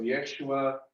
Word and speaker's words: Yeshua: Jesus or Yeshua, pronounced with a Yah.